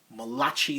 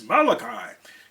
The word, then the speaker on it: Malachi: him I started interviewing him I called him Malachi Throne because no one told me how to pronounce his name I never heard his name pronounced and just as I said that he said it's Malachi and that booming voice of his and so